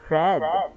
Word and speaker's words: read: read does not change but its pronunciation changes the pronunciation changes from long e to short e base form read simple fast red the spelling of some